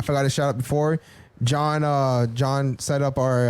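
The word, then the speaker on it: Jean: john lorenzo g right john renzo g so his name is john but it's spelled j e a n lorenzo l o r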